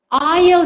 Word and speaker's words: aisle: Do we say it's aisle seat? Good job, Lily. So pay attention to the pronunciation. Though we write it with an S, we do not pronounce it an aisle seat.